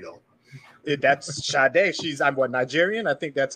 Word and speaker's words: Sade: It's actually pronounced Sade though. That's Sade.